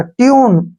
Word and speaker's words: tune: फिर ई आ गया, इसको पढ़ेंगे टी से हो गया टे, यू को यू पढ़ेंगे और एन का उच्चारण न होगा, ट्यून, ठीक है ना।